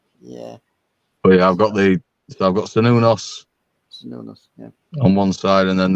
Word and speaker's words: Cernunnos: I noticed you have tattoos of the Coronas. Have I pronounced that correct? Cernunnos.